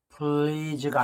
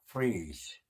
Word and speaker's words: freeze: 다음 두 번째 freeze, please가 아니고요, R 발음이에요. freeze.